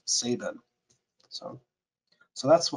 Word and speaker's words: Sabine: ago and I asked he knew Paul Saban and I asked him how did Paul pronounce his own last name and he said it was Saban and that actually makes sense because the unit of sound absorption they chunk they cut the E off of it and I think that was to force the correct pronunciation of Saban so so that's how